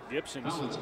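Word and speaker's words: Gipson: with thomas gibson and it does sound like gibson with a fee because that's the pronunciation even if you see the p on the back of his shirt we played a lot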